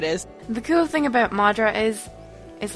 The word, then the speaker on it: madra: It's the Irish word of the week this week is madra. Okay. Irish for dog. Madra. It's spelled M A D R A.